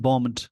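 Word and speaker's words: bombed: लिया होगा आ बीन बॉमड मतलब उसको उड़ा दिया गया बी ओ एम बी इसमें बी वर्ड का प्रोनंसिएशन साइलेंट होता है प्र सशन इसका साइलेंट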